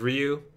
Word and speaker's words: Ryu: like in street fighter ryu and ken but it's ryu yeah it's a hard hard sound for english speakers to pronounce it's due yeah yeah